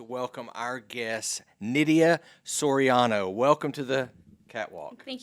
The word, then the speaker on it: Soriano: last name well it's supposed to be said Sorano but you know here in West Texas we just go by Sorano so it you pronounced it well so it